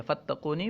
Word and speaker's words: فتقونی: ہے فتقونی، ٹھیک ہے، تلفظ والی شکل یہی ہے، فتقونی، فا کو تا کے ساتھ ملا کر پڑھیں گے تو یہ تلفظ